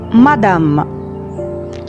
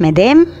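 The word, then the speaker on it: madame: سيدة متزوجة بنقول عليها مادام، تاني مادام، اسمهاش مدام، اسمها مادام، مادام.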